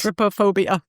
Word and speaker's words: trypophobia: things in nature that have like holes trypophobia yeah it has like so I was I recently since You talked about your old man spot.